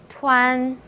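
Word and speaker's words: tuan: 투안, 투안, 그죠? 투안. 그래서 우안 발음이 났죠?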